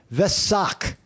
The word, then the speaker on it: Vesak: And how do you pronounce it? Vesak.